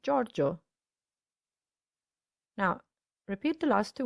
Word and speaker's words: Giorgio: giusto but just similarly we don't say giovanni or giorgio but giovanni and giorgio now repeat the last